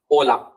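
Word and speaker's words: hola: एच हमेशा silent होता है। तो आप जब भी प्रोनाउंस करें तो ओ से स्टार्ट करें।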